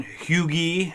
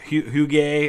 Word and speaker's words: Huger: or something uh benjamin huge huge i mean it's weird it's not pronounced huger the way it looks uh confederate general as